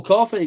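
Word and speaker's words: Coffey: name John Coffee like the drink and not spelled the same.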